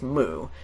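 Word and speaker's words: μ: and also the Greek letter and and it's pronounced mu and there's a Greek letter which is also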